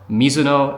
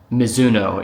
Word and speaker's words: Mizuno: Um, Mizuno is like the Americanized version of it, which is fine.